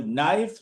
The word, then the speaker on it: knife: of it sometimes un totally unbecoming totally unheard of you know for example knife knowledge and what else not k I f they don't pronounce the letter k then why do you write it well I don't